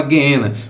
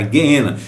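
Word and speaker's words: γέεννα: tá escrito genena porque Por que você fala guena porque a pronúncia do original é essa tá não existe no grego a a o o g que nós utilizamos com som de G ele tem som de gu sempre com som de gu então não tá errado a pronúncia a pronúncia É essa mesmo tá guena então a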